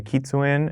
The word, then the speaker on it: kitsune: it's from the the drifter skin it's a kitsune if i'm pronouncing that correctly type mask and this is